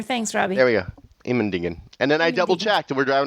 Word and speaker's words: Immendingen: Immendingen, because I did we'll talk about it a